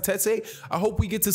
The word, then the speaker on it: Tete: He could be, him and Zolani Tete, that's how you pronounce it, Tete.